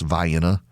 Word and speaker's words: Vienna: They have Vienna, but it's pronounced Vienna.